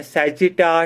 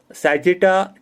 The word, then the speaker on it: Sagita: तो इसी तरीके से एक और है जिसे कहते हैं सैजिटा टूरिज्म या सेगाइटा tourism. Sir spelling? Sir spelling? SAGITA, सैजिटा tourism.